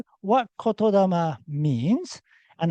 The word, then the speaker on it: Kotodama: This is pronounced as Kotodama. Actually, two words. This is Koto and this is Dama. So Kotodama.